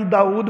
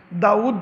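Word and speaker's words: داوُد: نقلی تفصیلی نمبر 5۔ یہاں پر داود کو دیکھیں، واو کے اوپر الٹی پیش ہے، حمزہ نہیں ہے۔ ہم اکثر تلفظ غلط کرتے ہیں، ہم داود بولتے ہیں، داود تلفظ ٹھیک نہیں ہے، داود۔ حضرت یوسف کو بھی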